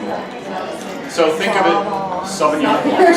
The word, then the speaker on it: Sauvignon Blanc: So think of it, Sauvignon Blanc. Sauvignon Blanc. Sauvignon Blanc. It's a French pronunciation of a French grape. Hey, no, you gotta say Sauv Blanc.